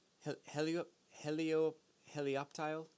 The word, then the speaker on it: Helioptile: you up hey leo helioptile helioptile i think is how you say that it took me like three weeks to get that right 60 HP thunder shot